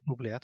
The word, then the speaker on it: oubliette: back and retinker stuff, hey, how do you pronounce that? Oubliette? Oubliette.